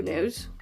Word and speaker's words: Noohde: So it's in the shade True Nude or 01 Nude. So it's spelled Noohde and it's like kind of capitalized on the O's and the H, so I think it's pronounced nude.